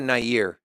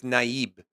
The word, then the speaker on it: Nayib: It's not Nayir. It's Nayib.